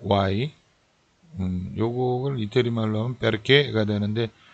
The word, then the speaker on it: perché: Perché? 요 perché 이게 what 이라는 단어인데요. Why? Why? What이 아니고 why? 요거를 이태리 말로 하면 perché가 되는데 꼭 끝이 올라가게 돼 있습니다. 액센트가 뒤에 붙어서 perché del passato, passato.